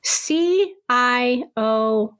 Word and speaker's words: Cioffi: Am I pronouncing the last name correctly? Cioffi? You are.